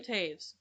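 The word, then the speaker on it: Toews: night fight night i can't ever marry miriam taves fight night um but it's not spelled that way t-o-e-w-s yeah is how you spell it but it's pronounced tapes but um that's what we're reading right now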